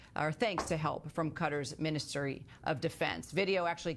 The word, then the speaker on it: Qatar: For the fifth time, Qatar is pronounced Qatar. It's not pronounced Qatar. It's pronounced Qatar.